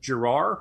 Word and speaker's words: Giroir: Admiral Brett Giroir, I believe is the way you pronounce his name. It's not Samuel Girard.